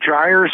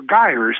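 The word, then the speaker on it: gyres: I just that are called gyers or guers that's spelled g y r s and so you've got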